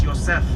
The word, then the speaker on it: Yosef: We don't say Joseph. It's Yosef.